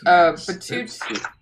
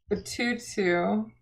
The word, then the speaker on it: Batutut: So it's Batutut. No. What? Batutut. Sorry about that. You lightly pronounced the last T, I think.